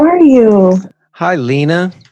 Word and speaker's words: Leana: how are you hi Lena is that how you say your name Lena that is that is how you say my name yes all right cool how